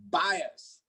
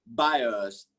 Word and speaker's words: bias: next one bias bias the word is bias hit it up in a by buyer i'm not talking about buyers i'm saying buy s bias bias bio melody gonna put golem b u y e r i'm not talking about buyer buyers that is buyers i'm saying bias bias